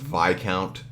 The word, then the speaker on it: Viscount: been told is pronounced Viscount, which I have a hard time saying it that way because you get a discount at a store, you don't get a die count, right?